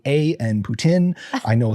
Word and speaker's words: Putin: on how to say Putin. It is Putin, not Poutine.